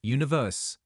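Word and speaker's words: 1VERSE: a K-pop boy band one verse pronounced universe is made up of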